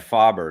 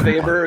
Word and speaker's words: Faber: Well, because there's another Doom, which is Faber, but he's actually pronounces it Faber.